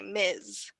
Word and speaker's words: Ms: So if you call me Miss, it sounds more like for young girls, so it's a little bit better to say Ms. So there's a difference in pronunciation. Miss and Ms.